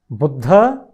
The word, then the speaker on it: बुद्ध: बुद्ध, मेरे साथ बोलिए बिल्कुल, बुद्ध, ब में छोटे ऊ की मात्रा, बुद्ध नहीं, बुद्ध, द्राक्षा, अश्व, विद्वान, विद्वान।